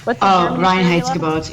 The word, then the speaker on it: Reinheitsgebot: Because any beer how do you pronounce it? Reinheitsgebot? Reinheitsgebot.